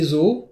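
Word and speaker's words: 象: Alors ça, c'est source de beaucoup d'amalgames parce que chez nous, zoo, c'est là où il y a les animaux. Mais en japonais, ce que l'on va prononcer zoo, c'est l'éléphant.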